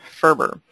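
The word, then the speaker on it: FRBR: a little bit about a conceptual model called Ferber and most people sort of pronounce the acronymous F you'll hear it as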